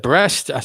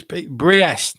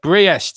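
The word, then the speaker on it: Brest: and uh I think I think I said breast it's briest not breast um so I got that completely wrong but briest is the pronunciation in the first game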